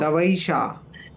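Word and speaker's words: तवैषा: तवैशा, तवेशा, तवेशा नहीं है वो, तवैशा है। तवेशा, हाँ तवैशा, जी नहीं, तवैशा, तवेशा।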